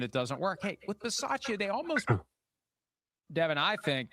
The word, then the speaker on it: Bisaccia: Between you and Chris, we'd have to work on the proper pronunciation of the Italian last names, but that would become a necessity at that point if Bisciotti hires Bisaccia, not Biscotti hiring or whatever you said.